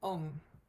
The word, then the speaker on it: ong: ong namo gurudev so the first word ong o n g and we say it um it really is a throat you really just pronounce the ng so it's on you can really feel the kind of at the back of the throat there um and the